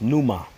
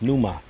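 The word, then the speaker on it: πνεῦμα: Spirit there in the Greek that word is pronounced Numa when you go into that word spirit in the Greek that word spirit is pronounced Numa and that's where you get like pneumonia respiratory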